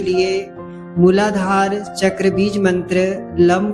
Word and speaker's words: लं: बीज मंत्र लम का उच्चारण इस प्रकार होगा। लम इससे पहले गहरा श्वास लें। फिर लम अक्षर का उच्चारण करके मम की ध्वनि निकालें। मम की ध्वनि निकलते हुए इस बात का ध्यान रखें कि मम की ध्वनि लंबी होनी चाहिए।